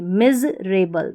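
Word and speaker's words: miserable: MI को पढ़ा मी, SE को ज पढ़ेंगे, क्योंकि S के बाद में E आ रहा है, तो इसको हम ज करके प्रोनाउंस करेंगे, और S से पहले भी I आ रहा है तो ये ज करके प्रोनाउंस होगा।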